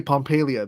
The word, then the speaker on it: Pompelia: I would say Pompelia because my brain would go Pompeii from the city that got engulfed by the volcano.